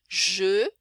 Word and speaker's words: je: Por exemplo, o próprio je, né? Que não é G. Né? G é outra coisa. Não vou entrar em detalhes de tudo aqui, mas eu, né? Je, que é um som